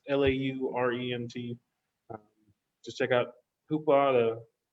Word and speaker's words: Laurent: It's made by French director Mélanie Laurent. If I mispronounce that, it's Laurent.